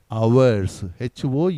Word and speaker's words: hours: Sachin had to play for many, MANY, many hours, HOURS, hours. இந்த வார்த்தையில் ஹெச்சை உச்சரிக்க கூடாது, ஆனால் எழுதணும். hours, வச்சு சொல்லணும். hours.